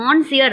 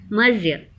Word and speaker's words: Monsieur: நம்ம இதை ஆக்சுவலாக மான்சியர் அப்படிங்கிறத ப்ரொனவுன்ஸ் பண்ணக்கூடாது, அது தவறான ஒரு ப்ரொனன்சியேஷன். இது ஃப்ரெஞ்ச் வேர்ட் அப்படிங்கிறதுனால மர்சியர், மீனிங் வந்து மிஸ்டர்.